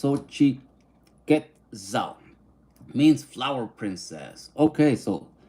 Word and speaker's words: Xochiquetzal: Xochitlitza pronounced Xochiquetzal.